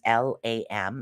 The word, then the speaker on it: LAM: But if you prefer this sound therapy, and again, there's the seed sound, which is LAM. It's again pronounced lam, and the color is red.